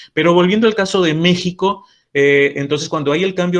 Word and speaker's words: México: partir de aquel momento méxico se escribiría con x pero la pronunciación continúa siendo la pronunciación actual de esta letra que sería j esto ocurre con algunos